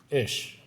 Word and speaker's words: Ish: But I want to fix the issue of Ish, his one syllable.